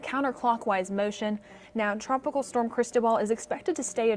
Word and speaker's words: Cristobal: thing with the pronunciation it's crease as in your pants toe as long your foot and then ball is and what you play sports with so crease more Annunciation